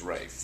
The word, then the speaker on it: Ralph: I've put myself out there calling myself Rafe spelled Ralph. Ralph, right, sorry, reverse that. Ralph spelled Rafe. No, yes, Rafe spelled Ralph, that's right.